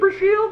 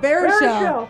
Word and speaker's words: Baruchel: James Brashiel, Brashiel? I don't know how to say it. The How to Train Your Dragons guy? Yeah, exactly. Oh, Baruchel.